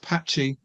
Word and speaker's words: PatXI: And also Pat, whose handle is pronounced Patchy, at PatXI at Patchy at 68.